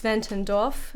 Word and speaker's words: Zwentendorf: So I'm not pronouncing it. It's Zwentendorf.